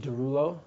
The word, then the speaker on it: Derulo: It's pronounced Derulo. Derulo. Okay. Mm-hmm. No, it's like Derulo, and it's French.